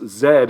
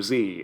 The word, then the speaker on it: Z: I didn't realize it, but of course, Zed is how you pronounce the letter Z in the UK and Canada and Ireland and Australia, basically anywhere in the English-speaking world outside of the United States.